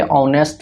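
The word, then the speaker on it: honest: तो यहाँ पे ऑनेस्ट में एस साइलेंट होता है। जब एस साइलेंट होता है तो इसका प्रोनाउंसिएशन औ से शुरू होता है।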